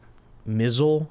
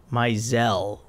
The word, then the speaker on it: Maisel: does with uh Morgan mizzle how do you say his last name maisel and uh who is a